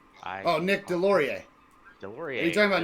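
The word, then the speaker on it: Deslauriers: I don't know how to pronounce his last name. No, it's okay. Is it Nicholas Desjardins? Deslauri. Oh, Nick Delorier.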